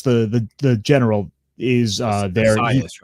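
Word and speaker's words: Arrius: Asias, right? I think his name is Asias. Is that how you say his name? Arius. Arius. Okay. Quintus Arius. That's how they say his whole name, Quintus Arius.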